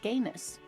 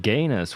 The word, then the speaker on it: genus: Same taxonomic family, different genus. Who the fuck pronounces it Ganus? What the fuck are you doing? Who are you? You're not a zoologist, it's genus.